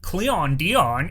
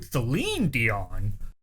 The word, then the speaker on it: Celine Dion: Or it wasn't Cleon Dion, it's actually Celine Dion.